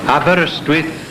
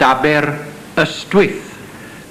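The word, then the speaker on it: Aberystwyth: Abberwith should really be pronounced abber a stith but many locals just call it a whole variety of shops both large and small.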